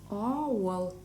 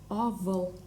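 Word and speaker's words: авыл: Но если слово исконно татарское, оно читается У, ауал. Неправильно будет чтение данного слова как авал. Ауал — это правильное чтение.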